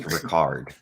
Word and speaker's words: Rickert: It was J.R. Rickert. Ricard. Richard. Pronounced Ricard. It's no one gets that reference.